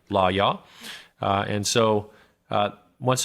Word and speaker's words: Lawyaw: forward shots law yeah that's spelled l-a-w y-a-w law y'all uh and so uh